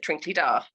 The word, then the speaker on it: Tranquilidad: have actually got um what would appear to be spanish names but they're not pronounced in that way so a good example